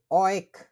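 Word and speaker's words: euch: ইয়ার মানে হচ্ছে তোমরা, তোমাদেরকে, অয়েক, কেমনে বলে? অয়েক, তোমাদেরকে, অয়েক।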